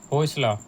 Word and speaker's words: Hoysala: हैं स्टेट और डायनेस्टी होसला यह द प्रोनाउंसिएशन में ध्यान दीजिएगा डोंट कनेक्ट द डॉट्स लेकिन एक आपकी बुक